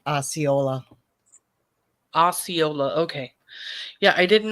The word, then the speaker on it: Osceola: You're pronouncing it right, Osceola.